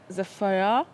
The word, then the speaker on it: Zephyr: Zephyr.